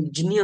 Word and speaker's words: ज्ञ: ज्ञ ज्ञानेश्वर हां सर लेकिन ग्रामर के हिसाब से उसका सही उच्चारण जिन्य है क्या है क्योंकि वो